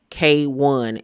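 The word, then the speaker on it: KWN: K1 is how you pronounce it, but she is fire.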